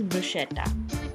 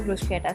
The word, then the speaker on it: bruschetta: The Italians pronounce this as bruschetta and the English pronunciation is bruschetta.